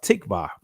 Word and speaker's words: tikva: In the Israeli language, it'll be pronounced tikva.